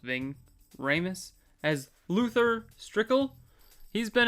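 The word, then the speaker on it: Ving Rhames: I guess Ving ramus Ving I think it's pronounced Ving ramus as Luther strickel he's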